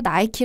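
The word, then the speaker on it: Nike: 나이키의 어떤 명칭은 1972년에 그리스 신화의 어떤 승리의 여신인 니케 미국식 발음을 따서 나이티 라는 브랜드 이름을 72년에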